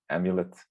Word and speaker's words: IMULet: i'm going to present imulet or pronounced amulet which is a cloudlet